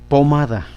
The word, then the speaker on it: pomada: Vamos a ubicar una pomada. Pomada, 3 sílabas. Da. Este es última, penúltima, antepenúltima, ¿sí? Si la llevaran antepenúltima, pomada, pomada, pomada, pomada, no. Si la llevaran la ma, pomada, pomada, pomada, pomada, ahí sí.